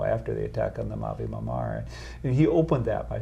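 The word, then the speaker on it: Mavi Marmara: Mavi Mamar.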